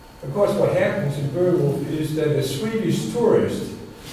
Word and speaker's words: Beowulf: If you go on to the first poem, I talked about this over lunch, that we have in English, Beowulf, which is the correct pronunciation of that.